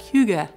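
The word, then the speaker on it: hygge: was very similar to a Danish concept pronounced something like Hyuga right which according to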